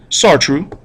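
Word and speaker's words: Sartre: pav the way for this movement Jean PA sartu and Albert or Albert Alber kamu all right that's how you pronounce those uh look them up in the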